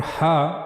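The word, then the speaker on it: ح: But for ha we have to use the middle of the throat. As you can see here we have to read it from the middle part of the throat. Ha. Ha. For reading Ha correctly, you have to practice it.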